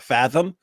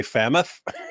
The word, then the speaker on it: fathom: And he kept trying to use fathom, but he would say fammoth.